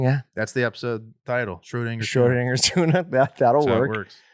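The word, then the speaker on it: Schrödinger: not get quickly but s-c-h-r-o they can they know that shro and then dinger they know dinger okay from hitting dingers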